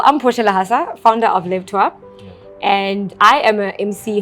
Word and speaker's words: Lève-toi: Well, it's actually a French word.